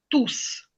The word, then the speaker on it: tous: tous, або ils sont tous. Ils sont tous ici, par exemple. То ми вимовляємо оце «с». Пишемо однаково, різниця йде на вимову.